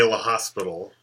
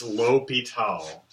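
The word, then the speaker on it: L'Hôpital: called l'hopital's rule okay this is not pronounced l'hospital's rule so please don't say l'hospital its l'hopital it's actually French it's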